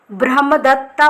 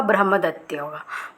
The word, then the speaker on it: ब्रह्मदत्त: ब्रह्मदत्ता वाज a king of Varanasi. ब्रह्मदत्ता नाम है। English में जब इसको प्रोनाउंसिएशन करेंगे, इसको रीड करेंगे वर्ड को, तो ब्रह्मदत्ता बोलेंगे, लेकिन हिंदी में इसका ब्रह्मदत्त होगा।